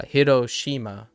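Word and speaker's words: 広島: pattern that is NE the stress is the next to last syllable so like uh hirosima for example but that's four syllables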